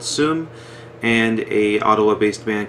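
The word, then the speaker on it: Seum: ottawa we played with another montreal-based band called sum and a ottawa-based man called ottowa that's a-u-t-o-w-a-h and soom is spelled s-e-u-m in case you want to look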